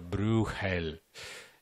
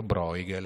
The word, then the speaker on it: Bruegel: è questa in realtà io l'ho pronunciato Bruegel che è una pronuncia un po' come dire di compromesso i fiamminghi lo chiamano ancora blu Hell i francesi lo chiamano broil e Questo ci ricorda